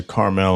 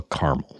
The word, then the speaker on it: Carmel: so we went to carmell on Saturday but Friday we went to Quail anybody anybody east of the Mississippi is going to go caramel so just well caramel